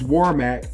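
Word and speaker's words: Warmack: you know I know I got his name wrong last time but it's warmac um but um who who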